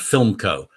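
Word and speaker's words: Philmco: He's a close friend, and he's my partner in the company called Film Co. Significantly, it's spelled P-H-I-L-M-C-O.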